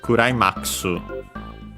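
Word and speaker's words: クライマックス: Uh actually in Japanese it's accented on the M. Uh so as if it were climax. Uh but yeah, so keep it in mind. Kurax.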